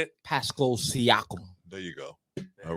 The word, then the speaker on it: Siakam: Pronounce it. Say it. Pascal Siakam.